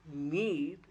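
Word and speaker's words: knead: K N E A D is need. K is silent.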